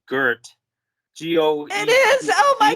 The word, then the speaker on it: Goethe: Like, So I think the poet, it's a German poet she's translating named, I think it's pronounced Goethe.